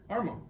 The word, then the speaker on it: Armonk: How you say Armonk. Armonk. There was an extra syllable in there, Scott.